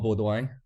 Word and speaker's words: Beaudoin: Yeah, my name is it's a French name, so it's a bit harder to pronounce, but it's Beaudoin.